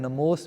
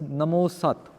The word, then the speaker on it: Namost: But because the Sihari isn't here, it's referring to Farsi. Namo Ast. So the pronunciation will be Namost.